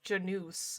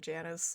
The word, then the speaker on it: Janus: So it's pronounced Janus. Oh, okay. I'm still gonna wind up calling it Janice, I feel like.